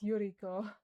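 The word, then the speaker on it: Ororo: It's not Maro. It's Euro. I was close, but not quite.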